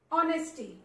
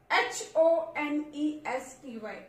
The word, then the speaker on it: honesty: Honesty. H-O-N-E-S-T-Y. Honesty. H is there but it is silent.